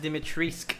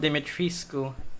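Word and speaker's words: Dimitrescu: thing everyone knows yeah it's pronounced dimitriska not dimitri school sorry i think russian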